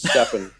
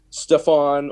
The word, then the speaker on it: Stepan: I have to say my name is stepan and my name has been butchered for my entire life I think tonight was the first time I said it right actually possibly possibly you know it's it's Steve or Stefan or Stephanie Tracy uh I think